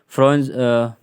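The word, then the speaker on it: foreign: और इधर जैसे कि डिजाइन, डिजाइन हो गया, रिजाइन हो गया, साइन हो गया, कंपेन हो गया, इधर फ्रोन्स, फॉरेन हो गया, फॉरेन है ना, फॉरेन, ग्रोम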